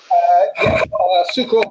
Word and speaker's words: Sukharov: Sukharov, if I get that. Correct me if I'm wrong, Leon. Sukharov, that's pretty much spot on.